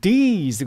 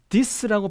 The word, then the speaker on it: these: 그리고 these라든지 masterpieces, 요 부분은 여러분 우선 these 같은 경우에는 these 그러면 길게 발음이 되어야 되잖아요, 그죠? 그런데 this라고 발음하는 바람에 단모음이 되어버렸어요.